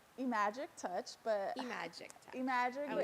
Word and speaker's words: iMagic: touch but iMagic touch iMagic everybody pronounces the I so I'm okay with that so I magic IM Magic Touch um the way I